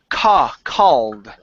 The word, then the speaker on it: called: Okay, so when we pronounce this all sound, there's a difference because if you say cold, that means that the temperature is low and it's cold outside. Okay, so here this is called.